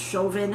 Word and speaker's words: Chauvin: funny that they that his name is pronounced chauvin as in chauvinist uh yeah so um